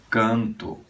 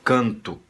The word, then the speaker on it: canto: Nós dizemos canto, se escreve com O, e nós fazemos soar U, dizemos canto, eu canto, né? Em espanhol, não, sempre vai soar O, seria yo canto, O é O em espanhol, tá bom?